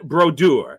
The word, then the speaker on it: Brodeur: number one and hats off to mod 10 brodur as it must be pronounced 691 wins 691 for a goalie all-time